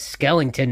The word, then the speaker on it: Skellington: like a skeleton obviously he has Skellington that rhymes with skeleton anything else uh he